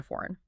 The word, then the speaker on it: foreign: Cross out the G in foreign.